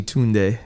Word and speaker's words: Tunde: And honestly, even my name, Tunde, that's not the correct pronunciation. I just grew up with that. It's actually Tunde. That's how the Nigerians would say Tunde.